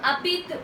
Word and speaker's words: habites: Tu habites où? Notice guys, here H is silent, so it goes as tu habites où means where do